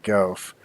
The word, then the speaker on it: GaaWF: way of function and I pronounce that golf so what I'd like